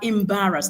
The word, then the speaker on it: embarrass: That word is not pronounced embarrass. Okay, we are learning oral forms. It is not embarrass. Tell your friends, tell your neighbors, tell anyone around you. The word is pronounced embarrass.